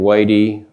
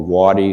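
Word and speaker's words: Watie: So after he surrendered, Stan Wadey or Wadi some people pronounce it in Dougville, Oklahoma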